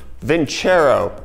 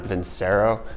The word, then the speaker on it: Vincero: in a shirt change vin chair oh not vince arrow my dumb American brand likes to pronounce things incorrectly but let's talk about